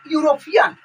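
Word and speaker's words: European: उसी तरह नीचे भी है कि दिस इज डैश माने आप भराएगा यूरोपियन, तो देखिए यूरोपियन, तो इसको भी यू से इसका उच्चारण यू होता है, इसलिए यहाँ पर ए लगेगा।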